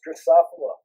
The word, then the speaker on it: Drosophila: something okay Lucas you're gonna drive us nuts pronunciation for the fruit fly is drosophila yeah I just realized I'm sorry yeah I